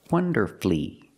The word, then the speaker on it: wonderfully: right he performed wonderfully three syllables wonderfully in a wonderful way